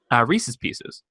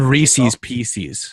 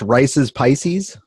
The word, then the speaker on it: Reese's Pieces: You mean Reese's Pieces? Well, we've had this conversation before. We're gonna have don't want to have it again today. It's not pronounced Rice's Pisces.